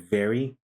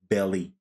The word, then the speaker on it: very: So with other speakers, they tend to mispronounce V as B, like boy. So instead of very, you say belly.